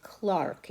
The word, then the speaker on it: clerk: that's an interesting point in the uk it's called clark even though it's spelled the same way c-l-e-r-k it's not pronounced clerk